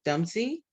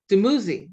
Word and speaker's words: Dumuzi: goddess Inanna and the god, and I'm gonna mispronounce this, Dumzi, Dumuzi, thank you.